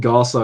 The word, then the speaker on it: Gaza: It's it's called Gaza, and Gaza rhymes with plaza.